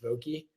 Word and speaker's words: Vokey: Yeah, So I think Nick Vokey, that's pronounced Vokey, like the wedges, yeah, which is pretty crazy.